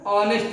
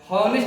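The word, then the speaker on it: honest: ईमानदार का क्या होता है ऑनेस्ट होता है नेस्ट नहीं पढ़ते उसको ऑनेस्ट पढ़ते हैं ऑनेस्ट को बोलेंगे अ आया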